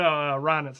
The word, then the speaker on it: Reinitz: It's not even Krebs. Please. No, Reinitz is how you say that.